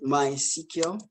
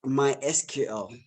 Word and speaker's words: MySQL: at my my cq so it's pronounced my sequel i write it mysql but you don't say my sql say my cq so let me laugh